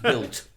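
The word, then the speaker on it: Bild: Pronounced built pronounced built. Yeah, autobuilt.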